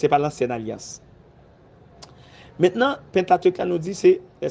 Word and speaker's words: Pentateuque: qu'on a dit le Pentateuque. Pentateuque. Pentateuque, il y a des gens qui disent Pentateuque, il y a qui dit Pentateuque, mais m'habituer avec Pentateuque.